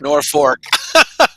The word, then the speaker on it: North Fork: connect correct our pronunciation it's north fork nor fork i knew he would